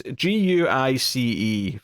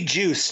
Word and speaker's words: Guice: Yeah, it's Guice for the sake of the audience, but it could be Juice too. Yeah, it could be. Yeah, you're right. It could be Yeah. a soft G.